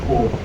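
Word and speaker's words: corps: Then it is written as box, but it is pronounced as core.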